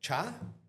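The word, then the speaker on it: csá: Cha, it's like, you can say it like when you meet somebody, but you can also say it when you say bye. So is CS ch? Yeah, it's a cha. It's a double letter.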